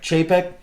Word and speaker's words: Chapek: Chapek.